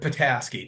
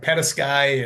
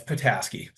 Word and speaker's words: Petasky: sir yeah that's right pataski people usually go like pety and I'm Ukrainian background so people call me um but it's patasi you know when people